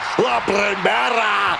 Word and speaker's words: La Primera: La Primera. Stephanie McCare. You need to roll your R's a little bit on that, man. La Primera.